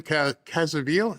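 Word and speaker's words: Caviezel: Jim Cazaville is how you say his name.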